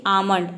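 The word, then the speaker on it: almond: मतलब होता है बादाम यहां पे भी देखिए ए के बाद एल आया है लेकिन यहां पे एल को हम प्रोनाउंस नहीं कर रहे हैं एल एम देख सकते हैं एल के बाद क्या आया है मम आया है तो यहां पर हम एल को प्रोनाउंस नहीं करेंगे नेक्स्ट लेटर है ए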